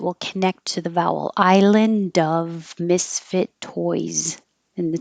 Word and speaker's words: island: Island. So you won't hear the D. Your tongue will go to the N position, which is the same as the D position, and then just hold the air.